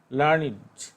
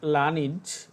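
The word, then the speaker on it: learned: লার্নিড উচ্চারণটা লার্নিড, কিন্তু তোমরা অভ্যস্ত লার্নিড এরকম পড়ার জন্য। কেউ আবার লার্নেড বলে, আসলে লার্নেড না, শব্দটা লার্নিড।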